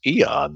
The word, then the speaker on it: aeon: yeah it's pretty close aeon is pronounced eon though oblivion oblivion uh then